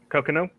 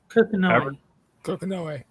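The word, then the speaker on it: Kokonoe: Cocono, was that right? Coco? No. Coconoe.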